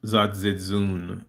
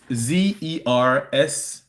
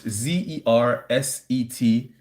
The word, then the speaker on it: Zersetzung: It's Zersetzung. Again, that's Zersetzung. Zersetsung. It's a German word that means decomposition or erosion, slow kill, which is exactly what we're going through. Zersetzung was an operation by